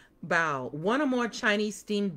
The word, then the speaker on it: bao: So, it says bao like bow, not like bow.